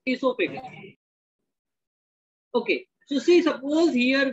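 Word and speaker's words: oesophagus: the tubular structure called asophagus it is oisophagus o is silent here so it is called as isopagan okay so see suppose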